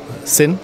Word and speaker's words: Sinn: you properly pronounce sin it's just like sin like sense in Germany the same word for sense is also sin and we get a